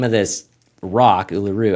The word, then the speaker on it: Uluru: Uluru, I guess it's like think Australian kangaroo, right? Kangaroo. Uluru. That's kind of how you say it.